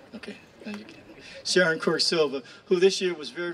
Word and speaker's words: Sharon Quirk-Silva: Sharon Quirk-Silva, who this year was very, very fortunate enough to be head of the Veterans Committee for the Assembly.